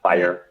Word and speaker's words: fire: know that fire is it's listed as a 1-syllable word, and I guess I can see that. But I think in colloquial speech, it comes off as 2 syllables, fire.